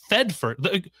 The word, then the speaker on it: Thedford: How do you say it? Tedford? Thedford. Literally the way it's spelled.